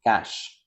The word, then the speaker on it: cache: So the pronunciation would be cash.